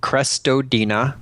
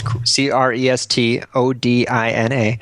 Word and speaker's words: Crestodina: My Twitter handle is my last name, Crestodina. Okay. Spelled like it sounds, Crestodina.